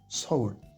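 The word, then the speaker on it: 서울: le U on sait pas trop comment les prononcer mais en coréen c'est bien sa d'un côté et ou de l'autre donc Saou notre mot d'après c'est encore une ville sud-coréenne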